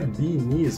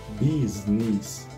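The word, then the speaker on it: Bee's Knees: Porque não é beanies, Marco, é business.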